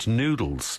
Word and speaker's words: Nudels: Now, at the moment, it's called Nudels. Yes. But it's spelt nude, as in naked.